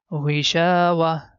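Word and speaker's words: غشاوة: At the time of stop, circle ta becomes ha, so pronunciation is ghishawa.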